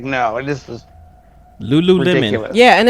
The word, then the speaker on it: Lululemon: You're like and it's like I'm like no, this is Lululemon. ridiculous. Yeah, and it's not even Lululemon. spelled like Lou.